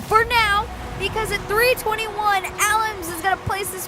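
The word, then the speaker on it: Alemz: now it says Almes, but on Wikipedia it's Alams. I swear, we're not trying to pronounce it wrong, but she totally changed it.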